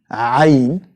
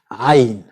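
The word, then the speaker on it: عين: So, ayn and pronounced ah ah and you can find it in the word ayn. The sound of the word is the sound of the letter as it is. ayn Then we have the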